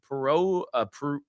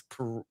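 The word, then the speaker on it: Perreault: Uh P pero what do we settle on? It's Perau.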